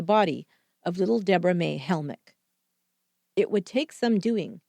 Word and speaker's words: Helmick: Then he asked her if she'd heard of Debra May Hamrick, mispronouncing the missing 9-year-old's last name, Helmick.